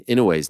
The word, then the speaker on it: Inoue: So I thought I'd let you know that most people put the wrong emphasis on the I in Inoue's name. The correct pronunciation is Inoue.